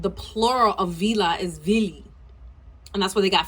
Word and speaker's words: Vili: In the beginning, when they talk about the Philly, that's not the right pronunciation. It's Vili, right?